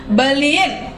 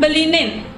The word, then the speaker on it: beliin: In, jemakin, beliin, atau orang biasanya mengucapkan belinin.